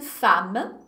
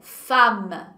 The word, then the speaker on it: femme: Je suis une femme. Observez la prononciation. La prononciation. Femme. Femme. Essa é uma palavra que as pessoas costumam pronunciar bem errado.